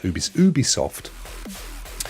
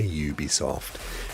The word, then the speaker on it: Ubisoft: We were talking about Ubisoft. We finally got, didn't we? We got back along the fact that as much as I desperately want to say Ubisoft, actually they pronounce it Ubisoft.